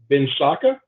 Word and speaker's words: Binsacca: I'm a loan officer with Builders Capital, and I reached out to Rich Binsacca. Is that correct, Rich? That's correct. Yeah. Good job. Okay. I'm a stickler with pronouncing last names, so I'm proud of myself.